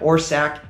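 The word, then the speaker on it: Orsack: I'm just messing with you, but yeah, or sack is how you pronounce Kyle's last name.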